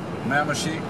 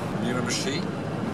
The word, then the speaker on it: Miramichi: Came from Fredericton, headed to Miramichi. Miramichi, this is the pronunciation. Miramichi, et voilà.